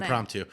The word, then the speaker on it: impromptu: But we'll do a little impromptu. Is that how you say that word? You nailed it. Impromptu.